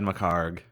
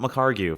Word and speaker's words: McHargue: It is not McHargue for everyone who has read his name on the internet for so long, and like I did, pronounced it McHargue. Ignore the UE. It is a worthless addition.